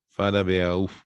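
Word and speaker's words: Farabeuf: El ángulo venoso de de farabf, perdón, no es pirogof, es farabeauf, se escribe.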